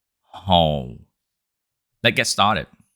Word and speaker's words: Hồ: in this video we will learn how to pronounce this name in Vietnamese it's home let's get started if you're not familiar